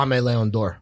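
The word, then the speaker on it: Aimé Leon Dore: how do you pronounce is it AIM or AME? Oh, Ame Leon Dor.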